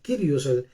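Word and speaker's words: κύριος: quiere decir kairos el el curius o el curios se escribe realmente se dice el krios el rey el soberano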